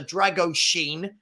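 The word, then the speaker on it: Drăgușin: D after the and I'm told it's pronounced like this after the Drago Sheen Drago Sheen deal the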